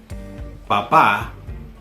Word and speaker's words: papá: Por ejemplo, papá, that's father or dad, with the accent on the last A. But without the accent, that would just read papa, which is potato. And you don't want to call your dad potato.